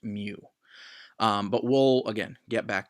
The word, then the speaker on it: mu: of looks like an odd M and it's pronounced mu but will again get back to that later